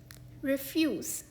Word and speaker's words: refuse: इस शब्द का एक उच्चारण है ये, रिफ्यूज़, यानी इनकार करना। इस शब्द का दूसरा उच्चारण है रेफ्यूज़, यानी कचरा या वेस्ट।